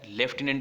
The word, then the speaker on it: lieutenant: लेफ्टिनेंट इसको बोला जाएगा, ल्यूटिनेंट इसको लिखा जाएगा और स्पेलिंग होगी इसकी LIEUTENANT। ल्यूटिनेंट लिखा जाता है और लेफ्टिनेंट पढ़ा जाता है ब्रिटिश इंग्लिश में।